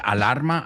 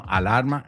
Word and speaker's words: alarma: And that word alarma, I've heard a lot of people say alarm. No, alarma, no, alarm.